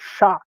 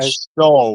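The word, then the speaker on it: Shough: That or show? Like I don't I don't know. Show. Yeah, they say it it's it sounds different than what it looks like.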